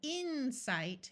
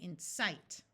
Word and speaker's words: incite: Did you notice that in all of these words, the second syllable is accented? We don't say impale, we say impale. We don't say incite, we say incite.